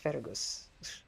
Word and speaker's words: Fergus: I know it's pronounced Fergus.